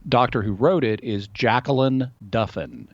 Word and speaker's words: Jacalyn: And it's the doctor who wrote it is Jacqueline Duffin. Her name is spelled a little unusually. Jacqueline is spelled Jacalyn. That's Jacalyn. And then Duffin is Duffin. So Jacqueline Duffin, author of Medical Miracles,